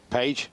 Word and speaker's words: Page: Page, it's easy for us to say. That's more English pronunciation, isn't it?